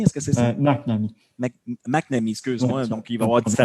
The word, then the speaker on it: McNamee: Je veux voir, je prononce bien ton nom, là, Francis McNamee. Est-ce que c'est ça? McNamee. McNamee, excuse-moi.